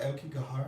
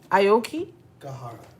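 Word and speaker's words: 青木ヶ原: Am I pronouncing it wrong? You're pronouncing it incorrectly. Okay, come and tell us how to pronounce it. Aoki. Gahara. Gahara. Aokigahara. Okay.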